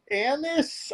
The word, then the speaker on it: anise: All right, so this one's interesting because we are taking a cinnamon stick, a bay leaf, and star anise. I never know how to Well, pronounce that.